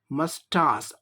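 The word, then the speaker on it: moustache: इसका उच्चारण मस्टास आ होता है, मस्टास।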